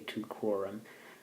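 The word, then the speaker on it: Teucrorum: It's really tucrorum, but I think I was mispronouncing it earlier, so just a little note on that.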